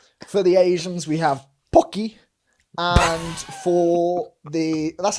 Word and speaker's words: Pocky: For the Asians, we have pocky.